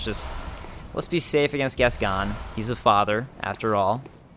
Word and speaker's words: Gascoigne: Uh, speaking of pronunciations too, I double checked and I was correct that Gascon is the name of this guy up here. That's how you pronounce it.